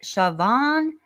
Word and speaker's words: Shanann: Oh, and I also want to say Becky Buu told me that the name I just um tried to pronounce is more like Shioan.